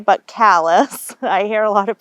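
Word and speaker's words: Calais: your your driveway and hit the tril now callus is the closest town not Cal but Callis I hear a lot of people pronounce it cal um so callus is about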